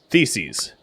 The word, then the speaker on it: Theses: room that makes sense theses okay rhymes with feces got it so electrics